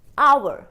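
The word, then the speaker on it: hour: over तू gate there आप जैसे अवर को प्रोनाउंस करते हैं वैसे ही आप ओ यू आर को भी प्रोनाउंस करते हैं मतलब आप जब कहते हैं हमारा घर तब भी आप कहेंगे अवर हाउस ना की आर हाउस यस I have तू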